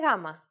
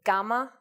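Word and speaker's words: γάμμα: It is very easy to forget the way they are pronounced in Greek and go for their English versions, delta and gamma. Please don't forget that in Greek, the sounds are much softer.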